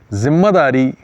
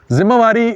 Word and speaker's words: ذمہ داری: واری اور ذمہ داری۔ ذمہ داری تلفظ درست ہے، ذمہ واری بولا جاتا ہے اور بڑے بڑے لوگ